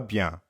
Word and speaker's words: bien: Ça va bien. Comment ça va, Estelle? Ça va bien. You might have noticed that bien also has a nasal sound.